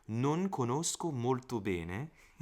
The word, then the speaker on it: bene: Sometimes I do the bene. I do it too open. It's bene. Non conosco molto bene.